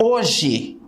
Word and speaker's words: hoje: Olha lá, hoje, quando eu pronuncio hoje, eu não falo H.